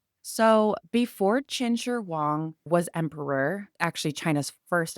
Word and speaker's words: Qin Shi Huang: my best to keep it legit with the pronunciations. So before Chin Sher Wong was emperor, actually China's first emperor, China was completely ununified and it was chaos.